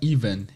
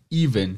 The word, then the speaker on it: even: super pequena quatro letrinhas a pronúncia é essa Ivan Ivan é parece com o nome Ivan né Parece com o nome próprio Ivan é uma palavrinha super